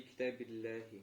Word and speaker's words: كتاب الله: Фи китабиллахи. Ахсан. Видишь, здесь уже мягко произносится. Почему? Потому что китаб получил каср по причине фи.